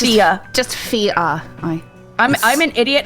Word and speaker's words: Fiadh: It's Fiadh. just Fiadh. I'm an idiot and I can't speak even English, so please don't. Just pretend F-I-A, because the D-H is silent. Okay. F-I-A, Fiadh. Fiadh.